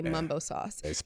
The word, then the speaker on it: Mumbo sauce: already doing bad because most people in DC say Mumbo Sauce they spell it Mambo sauce so they're already doing